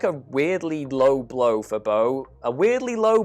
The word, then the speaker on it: Bo: weirdly low blow for beau a weirdly low blow for bo there we go it rhymes i have nothing else